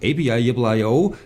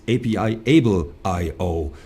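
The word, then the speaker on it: APIable.io: I started with API-IO, and then you just taught me it's not API-IO, it's API-Able-IO.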